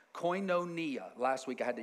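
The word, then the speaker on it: κοινωνία: that that's used there for Fellowship right it's coinonia last week I had to use my app to tell you the thing but I've had a revelation on how to say it this week coinonia okay coinonia and again we talked about this a little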